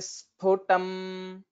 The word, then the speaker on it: स्फुटम्: So sphutam, that mahaprana means we'll have to give more energy while pronouncing it.